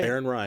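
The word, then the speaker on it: Aaron Rai: Aaron Ry is how you say it.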